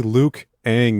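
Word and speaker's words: Liu Kang: are their catchphrases i'm lukang it's actually luke aang you guys have been saying it wrong after the avatar lucas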